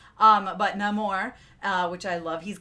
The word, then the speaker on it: Namor: I had talked about no more is how it is pronounced in the movie I've always read it as Neymar um but no more uh which I love